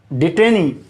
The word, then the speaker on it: DETENUE: DETENUE, डिटेनी, DETENUE, दिखाई दे रही है स्पष्ट? DETENUE, यस, डिटेनी।